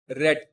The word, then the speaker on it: read: form of the verb read becomes red so in writing the words are the same the pronunciation is different next verb is not